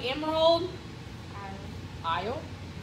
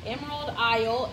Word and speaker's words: Emerald Isle: This one's called Emerald Isle. The S is silent, but Emerald Isle.